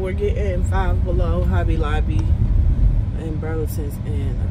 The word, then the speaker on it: Five Below: that still be here i've been saying five and below is five below and can't what get away you can't see it yeah like i was saying we're getting five below hobby lobby and burlington's